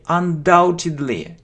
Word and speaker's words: undoubtedly: let me see okay undoubtedly we don't pronounce B undoubtedly undoubtedly means there